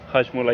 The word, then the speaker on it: Hajmola: Sorry, pronounce. Hajmola? Hajmola, yeah, correct.